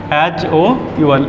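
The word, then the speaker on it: hour: HOUL। अब इसमें क्या लगा है, वोवल या कॉन्सोनेंट स्पेलिंग में? ये वोवल है, कॉन्सोनेंट। कॉन्सोनेंट के साथ क्या लगता है? ए। पर मैं एन लगाऊंगा, एच साइलेंट है।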